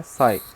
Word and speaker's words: psi: इसको प्रोनाउंस कैसे करते हैं हम लोग, इसको प्रोनाउंस करते हैं, साई को हम लोग पढ़ेंगे PSI, P साइलेंट होता है, साई पढ़ते हैं हम लोग इसको, है ना।